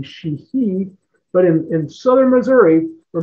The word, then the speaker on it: Sheehy: The Irish pronunciation would be Sheehy.